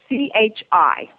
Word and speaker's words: Chi: XI is that correct actually it's Chi they CI just like it sounds okay GE that in the Chinese is it's Qi but they recognized it so they call it Chi to change okay and